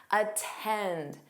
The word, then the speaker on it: attend: So in this case, Americans do pronounce the T in these words. Attend, attend.